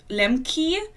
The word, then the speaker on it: Lemke: still up it's Nate lemker reads and Americans keep pronouncing it Lemke but I'm sure he does that himself too but if you were German you would say Lemke which is why I'm